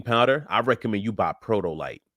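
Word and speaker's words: Protolyte: So, if you want a good protein powder, I recommend you buy Protoolite. It's spelled P R O T O L Y T E.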